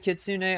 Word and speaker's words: kitsune: It is Kitsune.